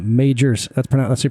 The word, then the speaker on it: Majors: invented kerosene major Beach Lighthouse and look how that's spelled Majors that's that's you pronounce it I almost said